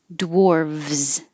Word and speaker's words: dwarves: Or it can be spelled with a V, dwarves, in which case you make a V and a Z.